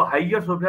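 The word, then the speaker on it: Hagia Sophia: हो जाएगी और जो जो आया सोफिया जिसकी स्पेलिंग एच ए जी आई ए उसको हाईयर सोफिया भी लोग कहते हैं उस चर्च के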